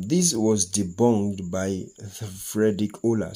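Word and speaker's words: Wöhler: was debunked by the frederick ola sometimes it is pronounced fried rich hola for remembrance frederick ola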